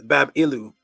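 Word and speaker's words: Bābilu: inside of the Bible it's bab babilu is how you say it that was a doorway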